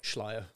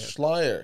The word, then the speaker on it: Schleier: How do you say it? Schleier. Yeah. Schleier. Yeah, yeah. Yeah. I think it's Austrian in origin, I believe. It's like liar, just put esh in front, Schleier. Yeah, exactly.